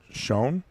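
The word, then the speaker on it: Schon: Old Schoen is how I pronounce it, from Milwaukee.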